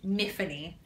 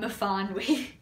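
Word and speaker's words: Myfanwy: very specific in this series that it's actually Miffany, not Mafanwi.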